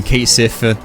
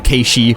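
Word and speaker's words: Cait Sith: So he's using Keisif, or Keishi, which is the proper way to say it, and SMT does say it, and Neko Shogun.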